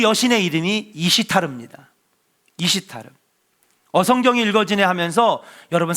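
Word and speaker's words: Esther: 된 겁니다 근데 진짜 원래 페르시아에서 부르는 이름은 이시르 이시타 예 이시타 에스더 그러니까 페르시아의 정통 발음은 뭐냐면요 이시타 이게 바로 우리가 지금 성경에서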